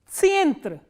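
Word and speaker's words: центр: Tsyentra, tsyentra. Can you think of any word in English which is pronounced in the similar way? Tsyentra, center. So, tsyentra is center.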